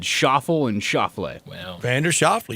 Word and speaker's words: Schauffele: I'm going to go with Xander Schauffele. Schauffele. Nailed it. Like the old song, Killing Me Schauffele.